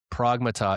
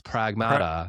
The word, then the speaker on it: Pragmata: Um I am playing uh Pragmata right now which actually I finished Pragmata last night. Pragmata. Pragmata. Is it Wait, is it Pragmata? Wait, Pragmata. Pragmata. It's Pragmata.